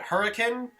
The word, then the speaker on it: Hurricane: hotel in hurricane utah yes that's how they pronounce it not like the english word that already exists but hurricane i i don't know man